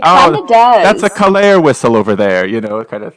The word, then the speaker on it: Kalare: Kalare rhymes with safari.